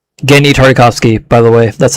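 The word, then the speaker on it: Genndy Tartakovsky: Genny Tartakovsky, by the way. That's how it's pronounced.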